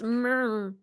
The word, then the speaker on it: Murmrgh: It's pronounced mrr. It's pronounced what I sound like in the morning.